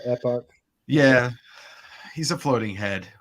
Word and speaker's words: Epoch: It's not epic, but Epoch.